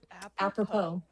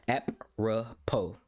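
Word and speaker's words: apropos: Appropo. It's spelled A P R O P O S, but it's pronounced app. Appropo. Appropo.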